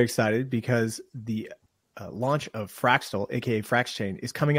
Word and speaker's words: Fraxtal: chain AKA fractal fractal is it fractal or fractal it's fraxel fraxel fra fraxel we just call it fractal but spelled with an X I think it's fraxel okay so we're going